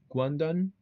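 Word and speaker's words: Guangdong: didn't know how to say it, but Guandon Guang.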